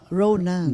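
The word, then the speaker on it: ranan: Raunan. Raunan. A r a n a n. N. Oo. Pero it is pronounced as ronan.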